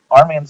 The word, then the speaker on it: RMAN: about what rman is rman is spelled rmn and Arman stands for recovery manager